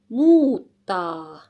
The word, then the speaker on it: muuttaa: pataa And then mutta mutta mutta mutta muuta muuttaa For me, for 2 years living here in Finland, these four words for me sounds sound exactly the same.